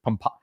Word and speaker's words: Pompano: So, or I always I always totally screw up that pronunciation. Is it is it pompo?